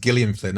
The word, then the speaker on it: Gillian Flynn: fake murder mystery really fast and he's like jilli and Flynn wrote this she was expensive and that's I always think because it's she says it's pronounced Gillian Flynn and I wonder if that's one of his